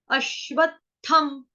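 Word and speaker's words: अश्वत्थम्: अश्वत्थम, व जो है वो पूरा है, व के साथ हमको त लगाना है, व के साथ हमने त जोड़ना है। अश्वत, अश्वत, अश्वत। उसके बाद बोलेंगे थम, थम, अश्वत्थम, ठीक है।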